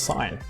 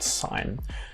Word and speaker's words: sine: they call it sine so it's not the sin of an angle it's actually the sine of an angle that's that's what it's called and sine um when you think of sine you think of sinus um so like the